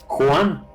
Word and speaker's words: Juan: is capable of pronouncing Juan. Not even Johnny could pronounce his name very well. Like Juan. Juan, Juan. like the horse that is on the balcony.